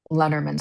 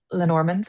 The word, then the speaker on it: Lenormand: I'll almost read it sort of like uh Lenormand style, Lenormand, however you pronounce it. Adrian, Adrian, can you pronounce Lenormand's for us?